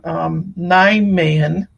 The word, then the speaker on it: Nijmegen: So in our first stop in the Netherlands, in the town of, and I'm always going to pronounce this wrong, Nijmegen, which is not how it's spelled.